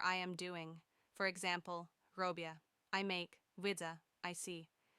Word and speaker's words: robię: So, robię is pronounced almost like robi, a soft E at the end.